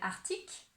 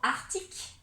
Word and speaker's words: arctique: On pourrait dire arctique, comme un arc, et après tic, arctique.